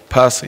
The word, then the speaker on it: Posa: Posa, you know what I'm saying? It looked like it's spelled like Posa.